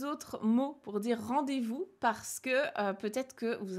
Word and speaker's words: rendez-vous: Ça donnerait, eh bien, rendez-vous. Ils ont toujours du mal avec le V, donc le V se transforme en B.